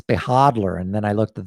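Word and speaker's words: Behodler: video i call the beholder i do mispronounce most crypto and talk about it i'm just playing with you i was corrected by one cryptowizer who said it's behadler and then i looked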